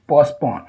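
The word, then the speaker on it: postpone: To delay और टू पोस्टपोन। इसमें T silent होता है, इसको बोला जाता है पोस्टपोन। पोस्टपोन नहीं, पोस्टपोन।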